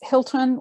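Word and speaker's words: Hylton: unique and it's not Hilton like the hotel it is not it's Hilton with a Y some people get let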